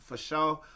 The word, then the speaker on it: FASHO: But Twitter X at Sugar Dunkerton, at Sugar Dunkerton FASHO, pronounced for show.